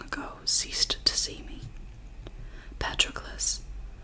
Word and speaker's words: Patroclus: Patroclus. Achilles did not slur my name, as people often did, running it together as if in a hurry to be rid of it. Instead, he rang each syllable. Patroclus.